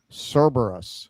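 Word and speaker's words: Cerberus: Uh, Ava Session, it's pronounced Cberus.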